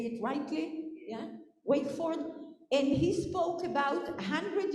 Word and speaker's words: Wakeford: Yeah, Wakeford.